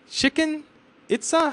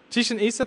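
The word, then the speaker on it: Chichén Itzá: Chicken Itza? How do you pronounce that? Chichen Itza?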